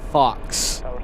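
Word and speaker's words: faux: a fa leather jacket personalized to him it's pronounced Fox with an au U instead of an O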